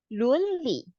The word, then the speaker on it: 伦理: 伦理 is the ethics. So the pronunciation go by this. 工程伦 would be like lu plus n. 伦 and my surname.